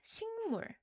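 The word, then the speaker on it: 식물: Sik and mul. But sometimes we have this pronunciation rule that when the first level ends with kiyo Uh let me write this down. Kiyo. And it's followed by mium, then we change the kiyo sound into iung sound.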